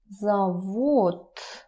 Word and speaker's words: завод: Завод. Remember about reduction.